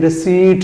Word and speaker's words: receipt: کو انگلش میں RECEIPT، غلط طور پہ اس کو رسیپٹ پڑھا جاتا ہے، لیکن اس کا درست تلفظ انگلش میں رسیٹ ہے، ان کے پی سائلنٹ ہے، پی سائلنٹ ہے، اردو میں رسید جبکہ انگلش میں رسیٹ ہے، پی نہیں پڑھا جائے گا۔ ٹھیک ہے۔ جہاں